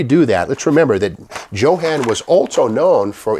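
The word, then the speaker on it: Jo-Han: but by 1954 55 johann became the name and it's not pronounced johan it's johan anyway without further ado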